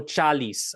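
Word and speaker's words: ચાલીશ: Even though it's often pronounced is, it is spelled ish.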